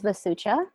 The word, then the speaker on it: Vasucha: us who are you um my name is vasucha and sometimes I Go by different names so